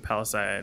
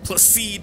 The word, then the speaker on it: Placide: Find Palisade in the back. Does he think it's this guy? You Placide? Placide, I've been saying it wrong.